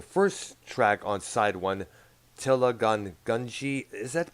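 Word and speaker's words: Thela Hun Ginjeet: Now the first track on side one, Tilla Gunji, is that pronounced? Thilahujinsi.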